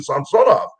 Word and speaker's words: Samsonov: team I said Sergey I've been calling you samsonov all these years he says well you've been pronouncing it right well I said well why